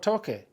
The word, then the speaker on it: toque: Okay, so a U, O, or A after a C is the hard C sound. Ka, ko, ku. But if you put an E or an I after a C, it's the soft C sound. It would be C or say. So when you say toque, you got to spell it with a Q-U-E, toque.